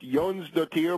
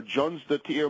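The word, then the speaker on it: Jónsdóttir: s d o t TI i r it's pronounced Yon the tier more or less or Jon the tier more in uh in English she has basically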